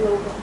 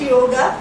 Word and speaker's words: योग: स् भी योगा but never pronounce it योगा इटस योग बज इट ज नाउ